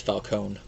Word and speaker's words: Falcone: But I'm just going to go with how they pronounce it in the film, and that's Falcone.